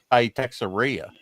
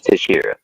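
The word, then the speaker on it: Texeira: Uh well, my probably uh a lot of people say Texaria. Mark Tesharia. It's Tashira. Yeah. Okay. Tashira.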